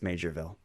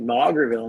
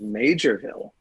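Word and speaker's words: Maugerville: it m a u g r who would pronounce that major um I just assume mger but anyway it's uh it's major Ville you know what this isn't fair actually um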